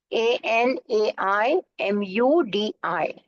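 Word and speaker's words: Anaimudi: the highest peak of the western C is anai murri a n a i m u d i anai mudi a n a i m u d i and this anai moodi peak is at the height of 2695 M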